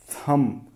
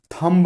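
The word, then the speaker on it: thumb: थम। थम्ब नहीं, थम।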